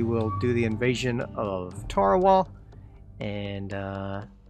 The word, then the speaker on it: Tarawa: invasion of Tarawal, and I have heard it pronounced, Tarawa. So I'm not sure which one is correct, but I think it's Tarawa, honestly. Because if I recall correctly, that is how the people who live there pronounce it.